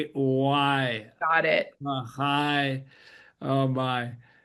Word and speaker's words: Lagaay: How do you Yes, it's spell it? not phonetic. Okay, it's Lagaay, and Peter is Dutch.